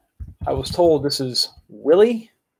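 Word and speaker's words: RC Willey: The RC, I was told this is Willie, not Wiley. I pronounced it incorrectly.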